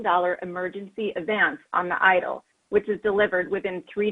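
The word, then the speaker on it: EIDL: economic injury disaster loan the acronym we're pronouncing idle the purpose of the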